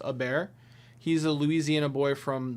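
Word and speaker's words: Hebert: To help you in the future, Bobby Herbert's last name is pronounced a bear. He's a Louisiana boy from the bayou. Uh, Herbert. Bobby Herbert's last name is a bear.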